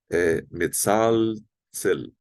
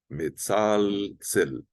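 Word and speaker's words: מצלצל: para o brasileiro pronunciar, tem que pronunciar bem as consoantes. A gente não pronuncia o L assim como o português de Portugal pronuncia, temos que pronunciar o L. E também não temos esse TS, né, que é o tsade, né?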